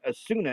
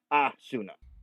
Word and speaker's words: Asuna: And hers isn't Asuna. It's Assuna.